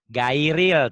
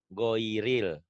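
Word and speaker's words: غير: Qurannya begini tapi salah itu bunyinya bukan gairil tapi di sini g ho o g giril giril ya bacanya giril tuh giril giril bisa dipahami ya g giril g ho bukan giril tapi giril ada unsur o-nya giril giril giril Arabnya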